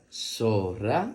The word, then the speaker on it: zorra: la lección de zorra la palabra zorra se escribe con z o que suena so do r a que suena ra la z también puede pronunciarse como Za ce ci zo zu pero por lo general en el idioma español en latinoamericano la utilizamos como la letra es so en este